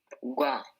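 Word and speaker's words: 과: How will we pronounce this? Gua. Gua. So your consonant sound will become g and wa will follow. So it will become gua.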